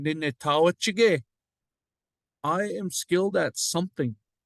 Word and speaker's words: Nitaawichige: No, you don't say it like that. Say it all in one. Nitawachige.